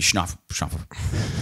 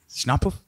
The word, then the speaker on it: Schnappauf: So today we have Schnappauf. God bless you. Schnappauf?